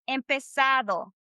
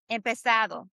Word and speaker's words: empezado: So we're going to say empezado. Do you hear it? Empezado. Empezado. Empezado. Empezado. Being a little bit more like, you know, like a pronunciation of a native sound, right? Instead of empezado, right? Do you hear the difference? That's American sound, right?